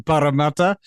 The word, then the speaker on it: Parramatta: It's always good to have a good Maori pronunciation on Parramatta. Yeah, there's 2 R's, so you really have to roll it. It's Parramatta.